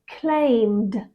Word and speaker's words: claimed: t as in talked d as in claimed and ID as in